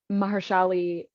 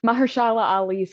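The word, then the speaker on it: Mahershala Ali: is found um by mahali sorry the I'm gonna say it right Mahala Ali's character there we go I put his first name and his last name together um Juan is his name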